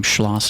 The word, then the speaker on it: Schloss: Schloss.